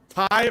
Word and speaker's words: Ti: fisher fisher started it everyone at nvidia always used to say ti and then all sudden fischer started going thai like okay anyway i say ti i'm going to keep